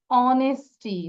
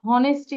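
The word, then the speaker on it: honesty: কেউ আবার বলো না যে এইচ আছে দেখা হনেস্টি বলো না আবার, ঠিক আছে? এটা কিন্তু নট হনেস্টি, হর উচ্চারণ করবো না। Here H will be silent, এইচটা silent থাকবে।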